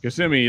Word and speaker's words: Kissimmee: instances like Kissimmee yeah Kissimmee like you can pretty much spell Kissimmee by just saying it if you can't yeah it sounds exactly like it's spelled um just take the